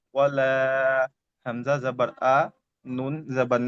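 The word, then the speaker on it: أنا: তো ঠিক এমন আনা। এই আনা উচ্চারণটি হলে টান হবে না।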